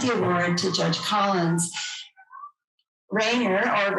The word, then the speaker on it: Raner: able to present the award to judge collins raynor or ranner i've discovered now is how he really likes his name to be pronounced your son and i started law school together in 1973.